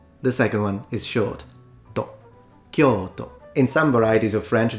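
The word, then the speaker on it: 東京: For instance, no one says Tokyo. They all say Tokyo. So it's o.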